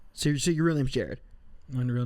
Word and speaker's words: Jerod: that name what do you say I say Jared Jared but then more more people say so it's cool whatever whatever what did your